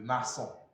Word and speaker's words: maçon: That's why they bring the accent, the cedilla accent there, so that it will soften it to be C, to be S, so that it will not be what? K.